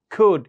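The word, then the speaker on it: could: তাহলে আপনি ক্যান you tell দিয়ে বললেও সাদামাটা হবে, কুড ইউ টেল দিয়ে বললে স্মার্ট হবে, পোলাইট হবে। কুড, এলটা কিন্তু উচ্চারণ হবে না।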